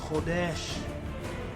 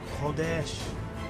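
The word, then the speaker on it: חודש: The Hebrew word for the new moon and month is pronounced Chodesh. Chodesh.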